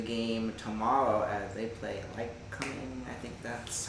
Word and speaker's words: Lycoming: predictions for the game tomorrow as they play like coming. I think that's how you pronounce it. Not fully sure, but like coming and um coming. That's right. Lycoming.